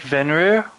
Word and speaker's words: Vanir: Also, I was saying the name of the god wrong. It's It's like Vanir. Vanir, I mean. Varnir.